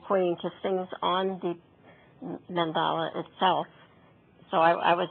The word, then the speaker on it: mandala: the mandala oh and I found out this pronounced mandala mandala I was expecting a